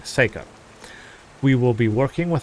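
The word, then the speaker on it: Seyka: and they have a huge settlement and we will be working with one of the Quinn called Psycha Seika. I keep saying it wrong. Seikka.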